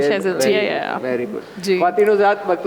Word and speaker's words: Shazeal: wonderful insight लाइ शजल life शजल होता है आपने नाम सही प्रोनाउंस किया जी जी बिल्कुल शजल वेरी गुड तीन सात